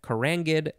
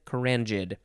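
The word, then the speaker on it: carangid: it's spelled c-a-r-a-n and you can use the j or the g sound either way is totally fine karangid karanjid adjective from 1931 of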